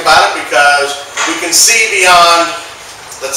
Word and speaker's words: Cbeyond: you who don't know cbi is spelled with a c and the word beyond so that's kind of a joke uh running around that's kind of a joke that i use see beyond and it's kind of